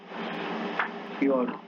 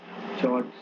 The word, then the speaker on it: fjord: Very deep glacial trough filled with seawater and making up shorelines in high altitude are called fjord, fjords, fjords or fjords. Basically, F is silent, so fjords or fjords.